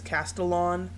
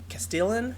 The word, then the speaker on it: Castellan: He says Castellon. Um I always thought it was Castellan Castellan. I always thought like Castellan or something cast Castellian but whatever.